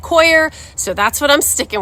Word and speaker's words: Coir: How to pronounce it a few different places, and they all said Coir, so that's what I'm sticking with.